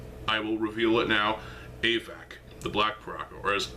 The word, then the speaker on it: Avak: I'm still waiting on, I will reveal it now, Avac, the Black Piraka, or as Avak as I used to call him. It's yeah, pronunciations are weird.